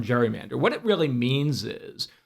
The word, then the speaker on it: gerrymander: created a port manw marrying Eldridge Gary's last name Gary and Mander as I said should be Gary Mander but Jerry Mander and everyone around the world World uses the term gerrymander what it really means